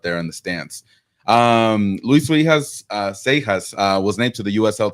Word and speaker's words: Seijas: the broadcast, how do you pronounce your name? Spanish, Seijas. The perfect way, the pronunciation, correct way. Yeah, I can get away with Seijas, which is you pronounce a J in English, but the funny one is Seijas with a I and with an A, and it's not an A. So yeah, Seijas or Seijas is fine.